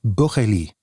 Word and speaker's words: Bourrelly: His name is Fabrice Bourrelly, or Bourrelly, is closer to his own pronunciation.